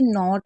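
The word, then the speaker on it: knot: अगर कहीं पर भी के एन साथ में होगा तो के को नहीं पढ़ा जाता है। उसमें सिर्फ हम एन को पढ़ते हैं। जैसे नॉट में आप देख रहे हैं एन ओ टी को पढ़ रहे हैं।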